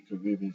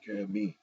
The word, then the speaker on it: Caribbean: Some people say Caribbean, some people say Caribbean, and that's the Western Hemisphere.